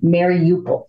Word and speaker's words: Mariupol: I call it Mariupol. Mariupol, I'm sorry. Yes. Yeah, well, that's okay, because I wondered the same thing about the pronunciation at the start of the war in February. Every news broadcaster was pronouncing it differently. Mm-hmm. So I went with Lester Holt's version, Mariupol.